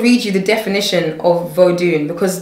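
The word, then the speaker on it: Vodoun: I'm just going to read you the definition of vodun, because the original word is not voodoo, it's vodun.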